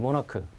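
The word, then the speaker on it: monarch: 아몬 악한 단어가 있으면 모나크 이런 ch 바람에 취 발음 나거나 시간은 날 때가 있잖아요 근데 얘는 k 발악 납니다 옛날 발음기호 시험 나올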